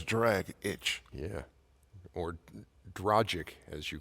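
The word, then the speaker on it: Dragić: a lot I agree I always thought it was tragic had dragic like drog itch where it says d-r-a-g-i-c that's drag itch yeah or drogic as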